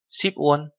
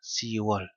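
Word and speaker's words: 시월: và tháng 10 thì đổi thành Yuon và Siwon. Các bạn chú ý, không phải là Yukwon mà là Yuon. Sipwon không phải là Sipwon đâu ạ, mà là Siwon.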